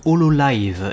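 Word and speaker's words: Hololive: vidéos du smile fest mais ça se prononce au lot live et en fait ce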